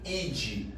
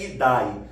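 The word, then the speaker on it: -idae: Por exemplo, a família animal, ela termina em id. Não se pronuncia o A antes do E. Então não é idai, não é reino plantai.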